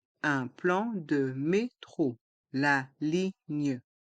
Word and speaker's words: ligne: plan de métro la ligne dans le mot ligne le G et le N se prononcent gne et les lettres g et n restent en suspens gne la ligne la ligne